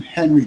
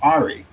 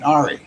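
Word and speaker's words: Henri: i called last week i call it hurricane henry but it was called it's pronounced ahri hurricane ahri so um history hurricane aria's history now uh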